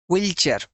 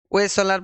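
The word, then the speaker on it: Wechsler: এটা কিন্তু তোমাদেরকে একদম স্ট্রেট কাট মনে রাখতে হবে, হুইলচেয়ার। উচ্চারণ আমি কি বললাম? বিভিন্ন জায়গায় বিভিন্ন রকম থাকতে পারে। ওয়েসালার বলে এখানে আছে, বিভিন্ন জায়গায় বিভিন্ন রকম থাকতে পারে, হুইচেলার।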